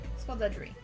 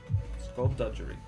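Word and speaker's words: skulduggery: Skullduggery. Skullduggery. Wait. Hard G. Skullduggery. Hard G. Hard G.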